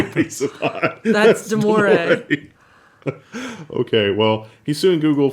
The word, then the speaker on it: Damore: Damore, I don't know if that's how you pronounce his name. Pretty sure it Damore. is, yeah. When the moon hits your eye like a Yeah. big piece of pie. That's Damore.